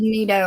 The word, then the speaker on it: Nido: And that's really true, Yeah, Nido, N-I-D-O, Kaylin. I love the Nido or Nido, whichever way you pronounce it.